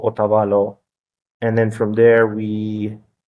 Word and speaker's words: Otavalo: Now, the town of Otavalo, is that how you say it?